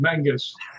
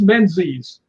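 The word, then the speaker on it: Menzies: The reason I yelled when she said Mangus is because it's spelled MN Z. And I don't care how much pride the the Scots have. It's not Mangus, it's menses.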